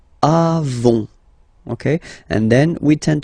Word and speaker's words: avons: Okay, then nous avons, final s not pronounced, avons.